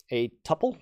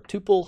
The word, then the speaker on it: tuple: Let's use a tuple or a tuple, however you want to pronounce that is good.